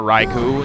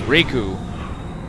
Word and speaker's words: Riku: time Riku Riku Riku since it's not raikou it's Riku oh my days look